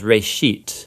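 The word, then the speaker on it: רֵאשִׁית: it's called genesis genesis comes from a hebrew word uh it's pronounced reishit and it just means beginning now there's a lot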